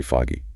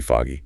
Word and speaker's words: fog: Maybe the fog rolled in, then it's very foggy. Really foggy. So foggy. If it's hard to see, it's thick fog. Fog. And how's that pronounced? Like the aw in ball or call.